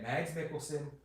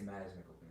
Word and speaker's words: Mads Mikkelsen: I hope we get Mads Mikkelsen. I think it's Mads Mikkelsen. I don't think you pronounce the D.